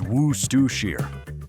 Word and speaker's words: Worcestershire: It's Worcestershire. But here's what's weirder than the pronunciation.